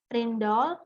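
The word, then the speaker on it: Rijndael: Jadi mulai bulan Oktober 2000 mengumumkan untuk memilih Ridsdale, ya bacanya Rindal.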